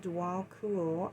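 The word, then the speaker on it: Djwal Khul: pronounced Dwal Kul, also known as the Tibetan, is a Tibetan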